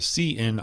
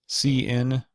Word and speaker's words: cin: our programs all right we begin with the CN object and that is how I pronounce it it's how I've heard it pronounced